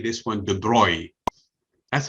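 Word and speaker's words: de Broglie: i mean how could you say this one the broi that's how the name is pronounced okay french people pronounced obviously it's written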